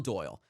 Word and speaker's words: Doyle: far is from John Doyle, the host of the show Heck Off Commie on Twitter at Comrade Doyle, and the Doyle is spelled D-O-Y-I-E, a capital I made to look like an L.